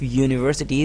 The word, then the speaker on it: university: But the initial sound of university is ya. University. And umbrella, umbrella. The sound is directly coming from your throat. So umbrella is a vowel sound, and university, yeah, the initial sound is a consonant sound.